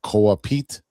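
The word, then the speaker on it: Koa Peat: projected to get uh KA Pete. I think that's how you say his name. It's K O A P E A T.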